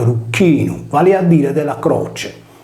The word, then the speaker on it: Erycinus: Erux è la contrazione di Rucchinus, pronunciato Rucchinum, vale a dire della croce.